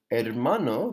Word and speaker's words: hermano: Hermano, the H is silent, so hermano.